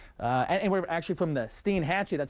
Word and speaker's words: Steinhatchee: Really, much of western Florida, the Panhandle, over towards, and we're actually from the Steinhatchee, that's how you pronounce this river, over towards Pearl River, very close to New Orleans.